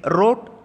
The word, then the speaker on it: wrote: organ simple persons they wrote answers so in the word leo w pronouns silent letter so they wrote answers